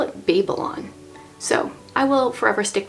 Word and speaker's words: Babel: Babel versus Babel and even though the word Babble is usually spelled with two B's that is how this is supposed to be pronounced that is how the